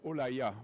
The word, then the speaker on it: L'Oréal: L'Oréal, qui se prononce d'ailleurs Olaya en Chine, est une société très connue, qui est numéro 1 des produits de beauté en Chine.